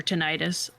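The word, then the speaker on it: tinnitus: Also, I'll pronounce it tinitis or tenitis.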